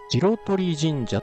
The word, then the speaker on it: 白鳥神社: 白鳥神社と読むそうですね。